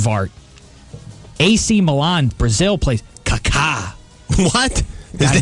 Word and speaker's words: Kaká: That's Kaka. That's not Kaka. That's Kaka. He's got the little accent on the second syllable.